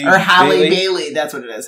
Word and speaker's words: Halle: much as I think, I'm happy to see Haley, I believe is, the actress, I forget Haley, what's her name? Isn't it Holly? Or Halle Bailey, that's what it is.